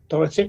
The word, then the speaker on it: Dorotich: So too is Tiana Dorotich. Awesome. That's correctly, yeah. Yeah. That's the right pronunciation.